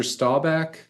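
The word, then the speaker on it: Staubach: name because I don't really know where the pronunciation is but Roger stabach you got it I nailed it okay I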